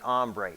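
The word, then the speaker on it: Hombre: have what we call the Ombre it's spelled h o m b r e ombre it's an HHO controller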